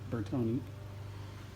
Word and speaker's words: Bertone: bertone x19 and yesterday that is how you pronounce it bertoni this car is in